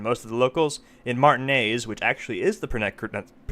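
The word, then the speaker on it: Martinaise: And most of the locals, in Martinez, which actually is the correct pronunciation, at least according to the voice acting,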